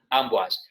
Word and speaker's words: Amboise: Vemos ahí abajo, Amboise, se escribe Amboise, se dice Amboise.